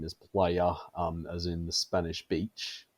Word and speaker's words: Plaja: if you want to get really technical, it's Old Catalan for beach, and Spanish for beach is playa, and that's what everyone